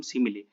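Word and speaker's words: simile: तो ये हमने देख लिया सिमिले का एग्जाम्पल, उसका प्रोनाउंसिएशन करेंगे हम सिमिले।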